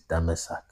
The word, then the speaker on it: Damascus: The real way to pronounce Damascus is Damasak or Damasak.